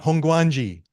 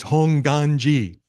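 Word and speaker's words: Hongwanji: Nishi honganji it's not honganji guangji is a movie about like this dinosaur no it's honganji the W is silent okay so whenever you see honganji don't say the W it's Hong Gangi and if you're going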